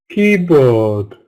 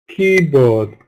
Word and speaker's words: keyboard: of the compound noun so compound nouns stress from the first syllable but with two strong vowel sounds but we must make key longer and stronger than board keyboard keyboard but usually two syllable